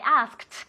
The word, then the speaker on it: asked: I asked con una T.